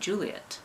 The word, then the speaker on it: Juliet: production of Romeo and Juliet. And yeah, that is one way that you pronounce that name, especially because it doesn't have an extra TE at the end to make it et. It's Juliet.